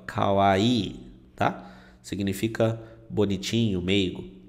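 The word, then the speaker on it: かわいい: já ouviu Com certeza muita gente pronuncia errado essa palavra fala Kawai né Kawai né ele tem um prolongamento aqui ó Kawaii tá significa bonitinho meigo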